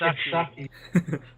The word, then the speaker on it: sake: If you pronounce it correctly, then yes. Really? It's sucky.